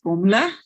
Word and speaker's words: Fuvahmulah: this island in southern maldives i call it fuvamoola because that's how it's spelt but the locals pronounce it formla um so yeah um and not that long